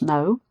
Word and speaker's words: know: Okay, and then this one, K-N-O-W, also pronounced no, is a verb, the verb to know.